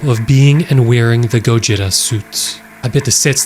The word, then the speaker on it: Gojira: The person in the Gojira suit was unknown at the time. I believe that's the original pronunciation, the Japanese pronunciation of Godzilla, but the story the actor has with Gojira is odd.